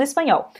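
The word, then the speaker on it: español: gente vai para anunciar a pontinha da sua língua ela vai tá tocando o céu da sua boca então por exemplo essa palavra aqui o nome da nossa do nosso idioma espanhol no finalzinho você pode exagerar o mesmo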